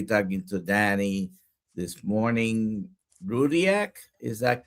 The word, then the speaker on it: Rudyak: Rudiac. Is that correct? That's so well pronounced. Yes. Yes, Dr. Nelson. Rudiac is right.